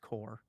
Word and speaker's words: Corps: Um, and is it core or corpse? I think it's corpse. I think Doug is right though. I think it's is pronounced core. I think corps is core.